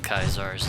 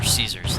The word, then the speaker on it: Caesar: This is pretty much where it's pretty much the home base of Kaisar's Legion, or Caesar's Legion, I should say. Apparently, these idiots don't even know how to pronounce the name right.